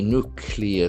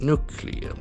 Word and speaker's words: nuclear: Three nuclear sites. Nuclear. N U C L E A R. So this word has got two syllables. Nuclear. And accent falls in the first nuclear.